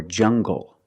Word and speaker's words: jungle: Or jungle, tangle, and angle. These are pronounced with the hard g sound.